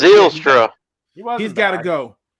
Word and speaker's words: Zylstra: How you pronounce it, Mike? Zylstra. Yeah, Zylstra. Zylstra.